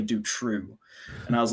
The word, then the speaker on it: Dutroux: couple of weeks ago we've been pronouncing jutro incorrectly because over there in belgium see i have a flemish friend that i speak to once a week and uh i was like hans which way do we uh pronounce this is it jutro or do true and he's like it's actually do true and i was like